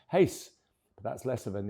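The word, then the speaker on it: Reis: young Brazilian center back whose second name is spelled R E I S, but pronounced Hace.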